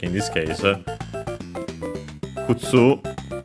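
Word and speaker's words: 靴: Kutsu, I think it's accented on the last syllable.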